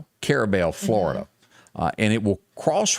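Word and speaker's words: Carrabelle: The town that it's going to pick on right now will be, is that, you pronounce that Carbola? Carabel, Florida.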